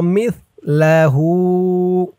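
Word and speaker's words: مثله: আও জামিআও ওয়া মিসলাহু ওয়া মিস, মিম দিয়ে সা ধরবে। মিস, সার উচ্চারণটা একদম নরম পাতলা হবে।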